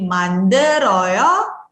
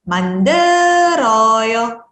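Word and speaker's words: 만들어요: Ini karena ketemu sama vokal, teman-teman bisa pindahkan bacim lielnya dibunyikan bersama dengan vokal suku kata selanjutnya. Jadi manderoyo. Oke, kemudian kalau tadi kita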